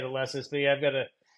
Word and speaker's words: Alesis: I think that's how you say it, Alesis.